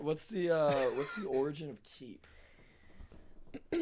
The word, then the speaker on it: Keep: old middle name, but it was spelled, and we just decided to spell it Keep instead. But it was always pronounced Keep."